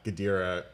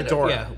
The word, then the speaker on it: Ghidorah: of the monsters right that's where Godzilla fought gadira I said it wrong again didn't I Ghidorah let's call the whole thing but also like